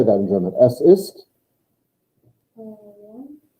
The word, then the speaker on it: warm: warm. I'm trying to give you easy ones because it's the same word in German and English. W-A-R-M. Yeah. But the W is pronounced like what? V. Like a V.